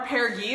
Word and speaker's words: Apogee: So, and we love our Apogee Apogee, right? Yeah. Our G, soft G. We love our Apogee, that's like nice and neutral, but something about port kept calling my name.